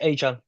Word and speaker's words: Etienne: So yeah, it's Achan apparently now.